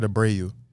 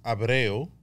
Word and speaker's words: Abreu: hopefully that answers it did i say your last name wrong say it i said to bray you that's one way to say it um since i'm not so finicky uh people say it's abreo in spanish yeah so you're in that